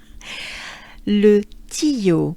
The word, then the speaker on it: Le Tillot: So this name sounds like this, not the way it's spelled. Le Tillot.